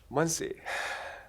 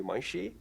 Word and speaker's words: Muncie: I mean, if I would follow the English rules, it's like it should be Muncie, or what?